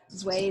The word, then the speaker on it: Due: So my name is Due, Vietnamese, so it's pronounced Due and spelled D-U-E.